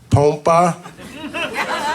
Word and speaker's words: Pompa: My name is Pompa, and in Spanish is pronounced Pompa.